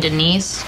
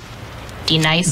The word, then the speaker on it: D-Nice: Do you mean Denise? Son of a bitch! You say your name right, right now. Denise? Say it right. Denise. Correctly. Denise. Right. Denise. Right. D-Nice.